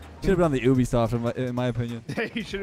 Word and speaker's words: Ubisoft: the same the word the letter U you don't say Ubisoft though no one says Ubisoft Ubisoft I say Ubisoft what a block that